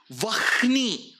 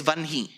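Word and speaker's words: वह्नि: Vahni. Again epiglottis. So he says Vanhi.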